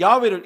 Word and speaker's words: 야훼: 아돈나이 나의 주님이란 뜻입니다 그렇게 붙여서 읽다가 보니까 야외라는 글자를 어떻게 읽어야 되는지 잊어버렸어요 몸부호를 아도나이라고 읽으라고 붙여놨는데 그 아도나이라고 읽으라고 하는 것을 야외하고 같이 읽으면 어떻게 읽어지냐면 그게 여호와인 겁니다 사람들이 야훼를 잊어버리고 여호와라고 읽기 시작한 거예요 그거는 야훼라고 읽지 말고